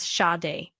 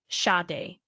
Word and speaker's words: Sade: In American English, her first name is usually pronounced as Sade. Sade. But? Sade.